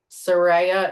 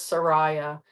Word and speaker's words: Serea: Um, Serea, Serea is how you pronounce it. Everyone says Sariah.